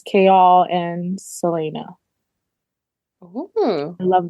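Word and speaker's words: Chaol: Kale.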